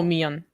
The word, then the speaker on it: millón: Oh, millón. Sí. Millón. Ok. Millón. Creo que es la pronunciación.